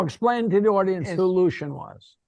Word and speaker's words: Lucien: No, explain to the audience who Lucien was. He pronounced his name Lucien, right? Lucien. Yeah. Oh, Lucien. That's better than I'll. My father pronounced it Lucy-Anne.